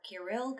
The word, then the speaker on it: Kirill: These 2 monks were named Cyril, or Kirill, how we pronounce it in Russian, and Methodius.